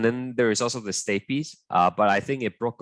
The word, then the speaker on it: stapes: the incas and the stapes they are gonna so so plus stapes that's gonna equal to the ossicle also goes i know it looks like it's pronounced stape but it's actually stapes for those of you